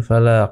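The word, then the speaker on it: فلق: এখানে call colour হরফ চলে এসেছে তো এখানে ফালাক একটু ধাক্কা দিয়ে পড়তে হবে সেন্টেন্সের থামার চিহ্ন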